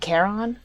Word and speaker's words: Charon: I think Charon is the more correct pronunciation for it.